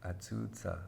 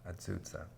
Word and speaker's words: Ah-ZOO-Zah: pronounced 'Ah-ZOO-Zah' that's her name. 'Ah-ZOO-Zah' And she got that name from an elder lady named Emma Brown.